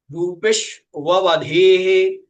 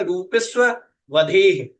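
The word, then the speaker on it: रूपिष्ववधेः: सूत्र कह रहे हैं रूपेश वधेह रूपेश वधेह रूपेश वधेह ठीक है ये सही उच्चारण है आप लोग करते हैं रूपस वधेह रूपेश्व वधे उच्चारण गलत है रूपिश वधेह ऐसा उच्चारण करना है रूपिश वधे रूपिश रूपीशु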